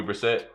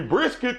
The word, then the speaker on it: Brissett: Jacoby Brissett. What's his name. Jacoby. Brisket.